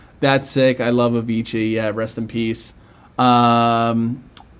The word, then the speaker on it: Avicii: so rest in peace he was a dj pronounced avicii oh avicii okay sorry guys my my age is showing